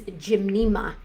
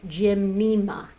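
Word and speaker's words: Gymnema: Um the first one is Jimnma. Jimnma. It's spelled G Y N. Uh, is there two N's? No, sorry. Just start again. Scratch that. G Y M N E M A. Jimna. Gymna.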